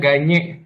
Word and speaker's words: Gagne: Ganye, Hah? dibacanya Ganye.